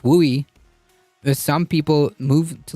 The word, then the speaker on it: WUI: of development in the Wildland Urban interface pronounced wui that some people move